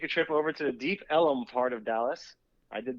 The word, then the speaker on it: Deep Ellum: a little bar hopping deep ellum technically it's on elm street but the way these people pronounce it ellem that's the way they